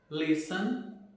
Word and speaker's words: listen: Nessas palavras, a letra T não é pronunciada. Então, como que ficaria a pronúncia dessas palavras? Ficaria assim: Christmas, listen, fasten, mortgage e nestle.